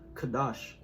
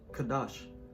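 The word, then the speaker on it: קָדַשׁ: this is strong's h6942 the pronunciation has here is a kadash kadash it says uh to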